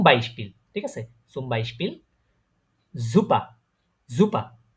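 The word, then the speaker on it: super: সুম বাইশপিল, জুপা, জুপা, জুপার বলি না কিন্তু আমি, জুপা, নেটিভ যারা আছে তারা এইভাবে উচ্চারণ করে জুপা।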